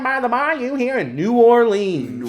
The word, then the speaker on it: New Orleans: No one says it like that down there. New Orleans. They say it like that. Every single one of them.